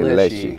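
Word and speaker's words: Leshiy: Leishi, has a, how do you pronounce it? Yeah, I say Leishi.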